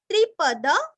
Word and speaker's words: त्रिपद: त्रिपद, त्रिपद त्रिरस्व, त्रिपद यहाँ का द भी पूरा पढ़ना है और द के ऊपर आघात।